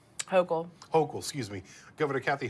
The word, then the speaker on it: Hochul: Hochul.